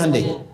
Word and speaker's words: Hyundai: bikin Honda sini hundai Hyundai kan dibacanya hundai ya kan sana Honda